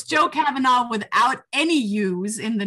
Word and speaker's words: Kavanagh: Because in Ireland, it's pronounced Kavanagh. Kavanagh. But here they say Kavanagh. And when they say "aw," they think A-U-G-H.